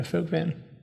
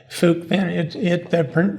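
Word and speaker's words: Phước Vĩnh: And you just Phuc Vinh, mentioned, yeah. say that again. Phuc Vinh, Phoucvinh. Okay. Phuc Vinh. The Vietnamese pronounce it a little different.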